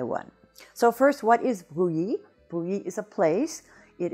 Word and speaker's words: Brouilly: words in French, and the word today is bruit.